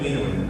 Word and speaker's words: enamine: Not complete name, just pronouncing as E plus amine enamine.